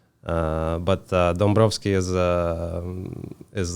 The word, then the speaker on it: Dombrovschi: y guine y guine how do you pronounce the last name uh dombrovski that's actually a little